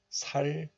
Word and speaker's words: 삶은: But look at this. This 삼 is followed by a vowel of the next letter. So, 미음 of 리을 미음 shifts to the next letter. So this 은 becomes 문, and the hidden 리을 sound regains its value. So it is pronounced as 삶은, 삶은.